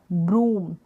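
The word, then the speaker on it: broom: ब्रूम ना करके ब्रूम पढ़ेंगे, यानी जो डबल ओ का उच्चारण होगा वो लॉन्ग होगा, बड़े ऊ के रूप में होगा, लंबा उच्चारण होगा, खींच के हम बोलेंगे।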